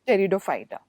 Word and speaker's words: Pteridophyta: In this case, P is silent, so we pronounce it as Pteridophyta.